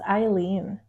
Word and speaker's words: Aileen: It's Aileen. Aileen. Yeah. So most people actually get it wrong because it's spelled the German way.